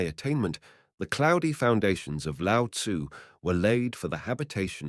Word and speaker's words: Lao Tzu: great rival of Confucius, Lao Tzu, pronounced Lao Tzu, he who is said